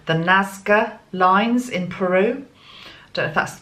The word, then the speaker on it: Nazca: showed me this morning was the excuse my pronunciation if I get this wrong the Nazca lines in Peru don't ask the way pranaya pronounce it na Zed CA Nazca lines in Peru we've probably all seen those